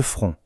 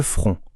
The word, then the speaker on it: front: C'est masculin on dit le front. Attention à la prononciation. Ici c'est une voyelle nasale. Le front. Le N et le T à la fin sont muets. On ne les entend pas.